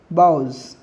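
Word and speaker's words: boughs: ध्यान रखेंगे, pronunciation cause जैसा होगा, बाउज, बाउज, काउज एक जैसा लग रहा है ना, तो प्रोनाउंसिएशन काउज जैसा, बाउज जैसा होगा।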